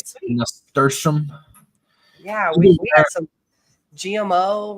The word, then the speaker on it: nasturtium: Oh, I was even pronouncing it wrong. I thought it was with an L.